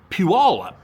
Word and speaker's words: Puyallup: We called the city Puyallup. I think that's the right pronunciation. He says the city in Washington is pronounced Puyallup.